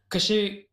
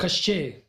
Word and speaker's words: Koschei: Koschei catches them anyway, which is odd.